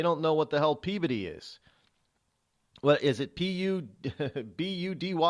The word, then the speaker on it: Peabody: No, it's not Peabody. It's Peabody. I know people understand how do you spell Peabody, but they don't know what the hell Peabody is.